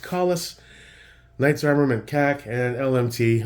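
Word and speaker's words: Kahles: It is pronounced Collis, Knights Armament CAC, and LMT.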